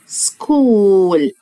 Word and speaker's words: school: welcome يعني مرحبا to إلى أو في my school. school فيها حرف ال H ما بنطقهوش لكن بكتبه في الإملاء. school مدرسة، school مدرسة.